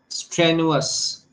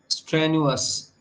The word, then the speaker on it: strenuous: here so that means the stress is on the first syllable identify the underlined clause